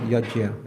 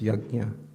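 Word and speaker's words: यज्ञ: And it's Yajna. Okay, not Yajya, it's Yajna. I'm doing a course right now in Vrindavan, talking about pronunciation of Purusha Sukta.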